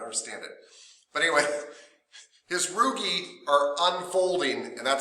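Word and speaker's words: rugae: stomach and they're called rugi r u g AE rugi you would think rug but I've always heard it pronounce rugie um these folds are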